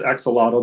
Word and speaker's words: axolotl: Yeah, in English it's axolotl. There's the real way, the Spanish way is different.